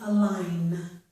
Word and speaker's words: align: At the end of a word, if we have GN, the G is usually silent, as in the word sign and in the word align.